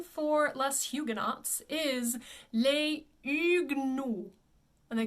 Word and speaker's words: Les Huguenots: People will always say les Huguenots, But like I said, in French, you don't really pronounce the H.